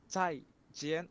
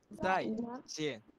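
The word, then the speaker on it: 再见: বর্গীয় জ ঝ আছে না, এই ঝ এর উচ্চারণ চাই চাই জেন। আর এই জেটা হবে আপনার বর্গীয় জ এর উচ্চারণ, একটু মোটা করে উচ্চারণ হবে এই জটা, জিএন। চাই জেন, চাই জেন।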